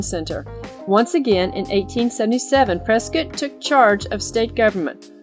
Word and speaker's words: Prescott: Fort Whipple served as the temporary territorial capital until replaced by a new founded Prescott. Many people say Prescott, Arizona, but it's pronounced Prescott, like biscuit, in 1864.